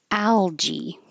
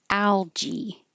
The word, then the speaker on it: algae: Algae. So this looks like a G and it is followed by an A which makes you think it could be a G but it's a J in this case.